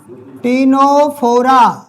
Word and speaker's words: टीनोफोरा: रखा है ये टीनोफोरा यहां सी साइलेंट आगे [नाक से की जाने वाली आवाज़] तो साइलेंट है बेटा इसलिए मुझे लिखाना पड़ रहा है इसको लिख लो ये उसको बोलते टीनो टीनोफोरा टेनोफोरा इसमें सी वर्ड साइलेंट है। टेनोफोरा बोलेंगे।